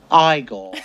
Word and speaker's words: Igor: You must be Igor. No, it's pronounced Igor. They told me it was Igor. Well, they were wrong then.